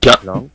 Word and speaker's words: blanc: I don't pronounce C at the end. I don't say blanc. I just say blanc.